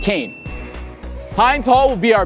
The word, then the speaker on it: Kean: And by the way, our university is named after the Kean family, and it's pronounced Kean, not Keen, but Kean.